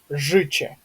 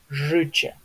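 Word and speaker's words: życie: Жиче, да, то есть тут у нас И, тут у нас Че. Жиче.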